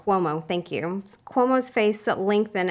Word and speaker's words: Cuomo: Cuomo, thank you.